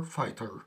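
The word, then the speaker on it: fighter: طيب رجل مطاف اسمه فاير فايتر فاير فايتر فاير فايتر، دايما جي اتش لما يجي بعدها تي ما بتنطقش، جي اتش لما يجي بعدها تي ما بتتنطقش.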